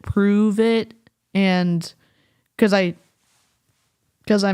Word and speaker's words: Pruvit: there for pretentiousness um I think they wanted people to say o oh like pronounce it prove it and cuz I cuz